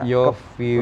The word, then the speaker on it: Yovie: Yofi Widianto aja atau ada Yofi Widianto Wiryawan.